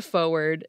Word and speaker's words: forward: In dialects like American English that are rhotic, meaning we pronounce our R's, people still tend to drop an R if it's in the